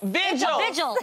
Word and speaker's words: vigil: How do you pronounce this word? Because I think I said it wrong, too. Vigils.